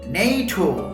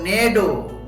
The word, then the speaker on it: NATO: ফরাসি ভাষায় ফ্রান্স ল্যাঙ্গুয়েজের নাম organisation do trade the Atlantic north, ওটা উচ্চারণ অনেকটা এরকম, নেইটো যুক্তরাজ্য এবং নেডো যুক্তরাষ্ট্র।